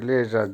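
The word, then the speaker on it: лежать: Verb লেজাত, লেজাত, উচ্চারণ হবে লেজাত, যার বাংলা হবে শোয়া, এই ঘুমানোর আগে যে শুতে হয় এটাকেই বলে লেজাত।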